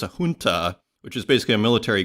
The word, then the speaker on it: junta: it is with uh even though it's spelled with a J it's pronounced H so is looking it up today so it's a junta which is basically a